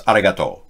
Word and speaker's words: arigato: So instead of arigato, it's arigato. No accent on arigato.